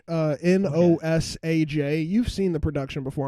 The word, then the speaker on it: Nosaj: It's like nostalgia, but it's like Nostage. Nosaj.